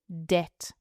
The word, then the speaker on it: debt: Right, the final word also has a silent letter. Okay. The word is debt. Debt D E B T D E B T debt.